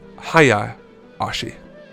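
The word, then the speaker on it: Hayashi: name again yeah um I realize it's pronounced Haya Ashi um how long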